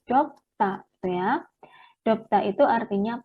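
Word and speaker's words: 덥다: Ini bacanya dop, kemudian D-nya ini dilafalkannya double ya, sehingga bukan dobda, tetapi dopta, gitu ya.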